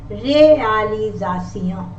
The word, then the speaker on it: réalisation: And if the letter S is in the middle of vowels, it sounds like Z. I will tell you, like this is S, as in English we say realization. In French also, réalisation.